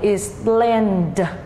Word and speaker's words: explained: Do đó khi thêm ed chúng ta sẽ đọc là explained, explained.